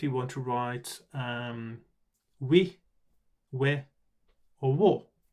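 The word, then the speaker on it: を: is the or character is no longer pronounced war it used to be pronounced war but now it is or the object particle uh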